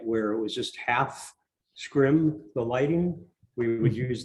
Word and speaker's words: scrim: scream or scream i'm not quite sure the pronunciation of it scripts s-r-s-e-r-e-m scrim okay um and i believe you mentioned that